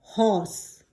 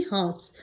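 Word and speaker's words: hoarse: ए आर एस ई ये वो वाला हॉर्स है एच ओ आर एस ई हॉर्स जो घोड़ा होता है ना बस उसके स्पेलिंग में बस यहां पर ए जो है वो ऐड हो गया है एक्स्ट्रा लेकिन प्रोनाउंसिएशन आपको ऐसा ही करना है जैसे आप हॉर्स कहते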